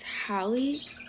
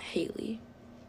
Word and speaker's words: Holly: pronounce it wrong but if anybody was wondering it's Holly not Haley so many people call me Haley I really hope my